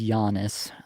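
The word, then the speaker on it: Janis: It is Giannis.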